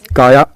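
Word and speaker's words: Kaja: तो इनका नाम है काया काजा लिखते हैं लेकिन इट्स प्रोनाउंस काया।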